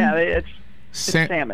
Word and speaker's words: salmon: there what you salmon it's salmon salmon salmon the L is silent salmon doesn't sound right